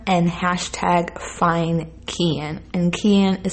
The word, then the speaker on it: Cian: the summer months they are using hashtag bring keon home and hashtag fine can and kian is spelled c-i-a-n thanks so much